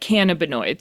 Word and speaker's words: cannabinoid: I have a cannabinoid thread now, right?